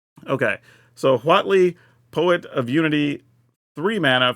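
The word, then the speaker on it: Huatli: and I have been saying this correctly as Watley so if you're wondering that is how it's pronounced just saying okay so Watley poet of unity three Mana for a 23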